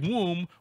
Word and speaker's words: womb: off you use a word like womb with a stupid silent B that triggered bode during